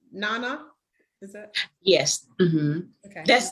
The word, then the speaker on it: Nana: because you are the queen mother and it's pronounced nana is that yes okay that's that other name